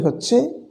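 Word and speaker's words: حاء: দ্বিতীয়ত যে আমরা হরফে উচ্চারণে ভুল করে থাকি, হা, হা এটি হচ্ছে কণ্ঠনালীর মধ্যখান থেকে উচ্চারিত হয়।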